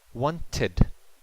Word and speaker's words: wanted: If the base verb ends in a T or a D sound, we add an extra syllable.